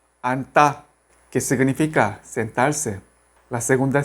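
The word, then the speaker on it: 앉다: Se pronuncia solamente la primera consonante. N. Anta. Anta, que significa sentarse.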